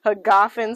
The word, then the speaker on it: Hagafen: we are here at hagafen they told us how to pronounce it ha goffin cellars uh i showed a